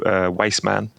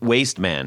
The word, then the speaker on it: Waste Man: moved here they're called wastman wassan Wast man sorry that's my accent waste waste man waste man yeah and uh so okay